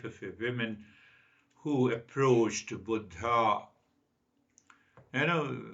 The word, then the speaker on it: Buddha: a women who approach Buddha you know in US it say Buddha Buddha you know in Sanskrit means old so actual pronunciation is Buddha so I will continue